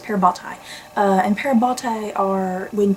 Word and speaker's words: parabatai: um the explanation of parabatai i believe that's how it's pronounced pear bhattai uh and parabatai are